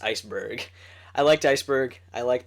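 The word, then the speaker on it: Iceburg: Ice Bar ice it's spelled Ice Bar it's pronounced Iceberg I liked Iceberg I liked Paulie uh both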